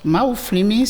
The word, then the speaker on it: Mahouflinmi: Maouflimi, c'est en 3 syllabes.